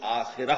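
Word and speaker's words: آخرة: کلا بل تحبون العاجلہ، تم عاجلہ سے محبت کرتے ہو۔ عاجلہ آخرہ کے مقابلے میں، آخرہ آخرت جسے ہم آخرت کہتے ہیں، عربی میں اس کا تلفظ آخرہ ہوگا۔ اس آخرہ کے مقابلے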